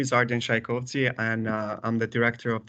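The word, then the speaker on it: Ardian Shajkovci: that uh all good with the with the pronunciation my name is arden shaikovsi and i'm the director of the american counterterrorism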